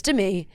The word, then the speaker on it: Demi: yeah Demi was Demi yeah don't forget it's Demi and Nikki did a fabulous job pronouncing that correctly she did she did and